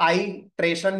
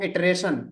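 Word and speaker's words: iteration: इटरेशन तो इसका दोनों प्रोनाउंसिएशन सही है। आप इसको आई ट्रेशन भी प्रोनाउंस कर सकते हैं। आप इसको इटरेशन भी प्रोनाउंस कर सकते हैं।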